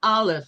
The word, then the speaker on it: Aleph: So if you see an ox over there, you go, oh, look, it's an Aleph or it's an Aluf. There's different ways of pronouncing it.